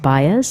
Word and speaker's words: Baez: It's pronounced Baez.